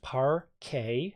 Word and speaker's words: parquet: on about it's pronounced parquet as as a French word um it is let's